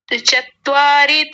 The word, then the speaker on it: चत्वारि: और ये चत्वारी जैसा आया था, चत्वारी नहीं, चतवारी। चत्वारी।